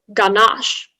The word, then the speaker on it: ganache: okay um spelling number nine your word is ganache ganache is this ganache as in like the